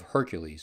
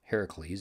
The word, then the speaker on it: Heracles: themselves as descendants of hercules or heracles if you like the greek pronunciation better if you had been